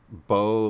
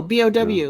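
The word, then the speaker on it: beaux: When you spell bow, like B-E-A-U-X or something like that, it's like, how's that bow? Oh yeah, bow, B-O-W, yeah.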